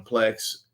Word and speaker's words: Plex: I don't know what Plex is. It rhymes with flex.